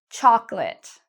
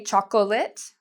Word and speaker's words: chocolate: The first one, chocolate. A lot of students say chocolate. That's incorrect. It's like this O doesn't exist.